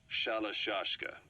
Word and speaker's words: Shalashashka: somewhere along the line, Shashka got stuck on the end of Sharashka. The guerrillas were using the name amongst themselves, and by the time I got to hearing about it, pronunciation had wound up as Shalashashka.